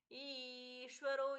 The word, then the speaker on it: ईश्वरो: ईश्वरो विक्रमी धनवी मेधावी विक्रम क्रम अनुत्तमो दुरा कृतज्य कृतिरात्मवान ईश्वरो यहां पर भी ई दीर्घ विक्रमी धनवी मी दीर्घ